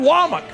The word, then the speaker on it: Wac: kayin dbor and Kane wak it's spelled wac but he says wak cuz that's what we do in the South and said hey you